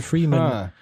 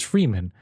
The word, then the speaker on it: Fremen: completely missed was freeman i read freeman every single time and then they go freeman i'm like is that how you pronounce it and i look at the book and it's like it's a fremen it's like there's only one e but it's like that's